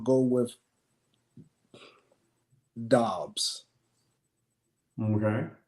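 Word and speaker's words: Dobbs: I'm g go with DOs okay go with DOs it rhymes with jobs J and then on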